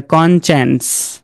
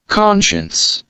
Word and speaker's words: conscience: তাহলে কন সায়েন্স, নো, তারা এটাকে বলবে কনচেন্স, কনচেন্স।